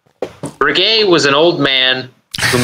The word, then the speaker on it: Breguet: It's not Breguet. Breguet was an old man who made beautiful watches.